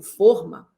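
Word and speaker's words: fôrma: O substantivo forma, quando pronunciado com o fechado, pode levar acento circunflexo.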